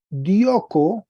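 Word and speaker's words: διώκω: Entonces aquí tenemos el tercer verbo, el verbo dioko. Estoy señalando la diferencia entre raíz y desinencia. Dioko. Tiene un acento agudo acá.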